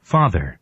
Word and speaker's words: father: father 아니라 강세 앞에 있어. 이음절이니까 father 이렇게 강세를 앞에 줘야 돼요. father 아니라 father. 이 뒤에 주면 되게 웃기겠죠. father 이렇게 웃기겠죠. 아빠 이렇게 웃긴 거니까 강세를 앞에 줘요.